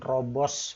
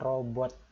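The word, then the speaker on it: 로봇: Jadi ini bukan robos bacanya, tapi ini bacanya robot.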